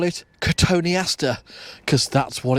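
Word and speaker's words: Cotoneaster: well some call it katoni Aster cuz that's what it's called some call it cotton Easter but it's only got one te at the first part of it it's got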